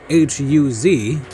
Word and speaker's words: Huz: hath also borne children unto thy brother Nahor, Huz, his firstborn, and that's spelled H-U-Z, Huz, his firstborn, and Buz, his brother, and